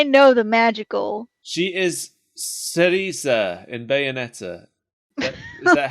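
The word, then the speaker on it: Cereza: the magical i know the magical she is cerisa in bayonetta is that how you pronounce it it's been too long since i played it ceresa there we go you played it recently i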